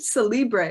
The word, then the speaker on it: Cellibre: when i looked at celibre is that is that how you pronounce it it is you are the first person ever in the history of the earth to pronounce it properly so congratulations you must